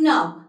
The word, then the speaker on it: knock: So this is where we are not at all pronouncing the word K, as because the word letter K is silent in all of these words.